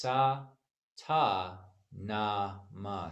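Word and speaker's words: Sa Ta Na Ma: I'm sorry, it's Sa, Ta, Na, Ma. So it's Sat Nam broken down into 4 syllables.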